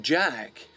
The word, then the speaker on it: Jacques: This is spelled Jacques, Jack. But pronouncing it Jack means that if anyone calls my name, I'll react naturally as though Jack was my name, which it is.